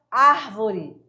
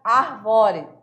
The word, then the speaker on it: árvore: Então, a prosódia ela é responsável por definir que a sílaba tônica, por exemplo, árvore, é na primeira sílaba e não na segunda sílaba. Senão ficaria arvore, tá?